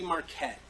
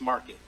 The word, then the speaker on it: Market: So the concept is Mars Market, and I say Marquette, but it's Market. You know, it's spelled with a Q and just a fun tagline to use.